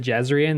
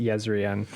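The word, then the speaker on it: Jezrien: Because I think originally I tried to pronounce it Jezan, then I heard the audio book and went, "Oh, I think it's pronounced Yzrian." Cuz you told me that the J's are pretty much Y in this one.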